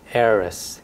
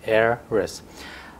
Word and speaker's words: heiress: is heiress so the the initial h is silent heiress heiress a woman who inherits